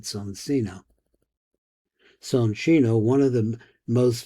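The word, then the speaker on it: Soncino: Though we know the name son that we pronounce it sonino.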